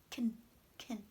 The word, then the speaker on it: can: again I can't go so you should hear a clear battle on the stressed negative and you should hear an unclear vowel as schwa here on the unstressed can can try again for me